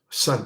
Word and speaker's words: Sun: his name his last name family name is Swan all right it's s u n son but the sound fanatic sound kern is Another way to pronounce it.